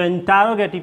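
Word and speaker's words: interrogative: है कंफ्यूज नहीं होएगा इसको इंटेरोगेटिव पढ़ते हैं इंटेरोगेटिव का स्ट्रक्चर क्या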